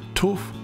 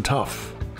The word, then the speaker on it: tuff: get the pronunciation right tuff rhymes with wolf that's it got it good i don't want to hear any more brisbane tough it's tough this rock